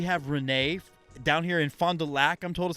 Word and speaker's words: Fond du Lac: guest here we have renee down here in fond du lac i'm told is how it's supposed to be pronounced i keep saying lock yeah we're big fans of you guys keep